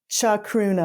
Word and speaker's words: Chacruna: Will you spell that word out for folks who are listening? Yeah. Chacruna.